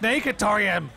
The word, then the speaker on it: Snackatorium: Snackatorium the dragon donated saying, "It's pronounced Snakatorium. You twat, Ross. Why don't you... Snackatorium. It clearly... It's a hard K.